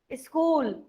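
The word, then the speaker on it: school: Harshita Nikam, स्कूल. Ma'am, H is silent in this word. यस, H is silent in this word.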